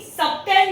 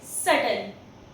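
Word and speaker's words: subtle: इसे भी सबटल नहीं पढ़ेंगे, इट्स सटल।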